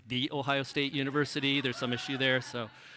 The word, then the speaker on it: The Ohio State University: the ohio state university i'm told it must be pronounced the ohio state university there's some issue there